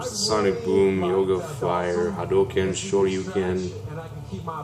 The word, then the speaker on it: Shoryuken: It's pronounced Shoryuken.